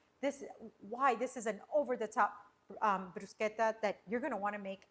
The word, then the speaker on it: bruschetta: A lot of people say bruschetta. No, guys, it's pronounced bruschetta.